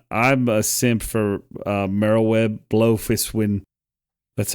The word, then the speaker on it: Merlwyb Bloefhiswyn: You can you can switch between the three grand companies and I'm a simp for uh Merlwyb Bloefhiswyn.